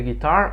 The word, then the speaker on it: guitar: I sometimes play the guitar on weekends. Guitar. Né? Sílaba tônica é a segunda.